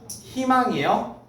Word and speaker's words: 희망: 2로만 바음 2로만 발음합니다 예시 어떻게 발음 한다고요 희망 희망이에요 아 물론 발음할 수 있어요 이때는 뭐 굳이 의사는 안 하시던 분들이 이때는 갑자기 희망이라고 발음하시는 경우가 있죠 그죠 망이 아니에요 망은 발음하기가 너무 힘들잖아요 그죠 예 그러니까 얘는 어떻게 발음해요 희망이야 희망 희망 됐죠 자